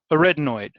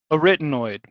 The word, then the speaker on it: arytenoid: carniculate and the retinoid students have a hard time pronouncing this one so everybody say arytenoid arytenoid super boring dry a written imagine like bueller arytenoid that's the only way i can remember it is by just saying it over and over